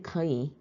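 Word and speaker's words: 可以: 첫 번째 나은 산천적인 능력 후인은 후천적으로 무엇 무엇을 할 줄 안다라고 기초일에서 배웠고 이번에 거이 삼성플러스 삼성이기 때문에 이성삼성으로 발음이 됩니다.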